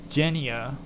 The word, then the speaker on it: genea: Now, Genia, which is spelled Genea, means race, family, generation, class, and kind.